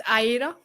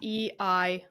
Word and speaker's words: Eira: It's Aira. So it is Eira. Aira. It's like the female version of Eric or Air.